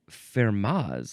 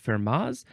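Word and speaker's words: Fermat's: it's pronounced fmas so I'm guessing that the t is silent the T the No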